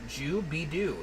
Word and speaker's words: Jubidu: It's pronounced Jubidu is the way to say it.